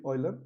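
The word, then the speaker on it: Euler: phi of n, कई बार इसको यूलर function भी बोलते हैं, है ना? EU, यूलर function. करेक्ट जो प्रोनाउंसिएशन है वो है ऑयलर फंक्शन।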